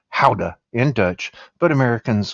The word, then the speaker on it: Gouda: Let's Let's go to Holland and try a three-year-old aged Gouda cheese, which is pronounced howa in Dutch, but Americans call it Gouda, and that's fine.